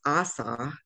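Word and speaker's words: àṣà: It's pronounced Asa, and it means culture.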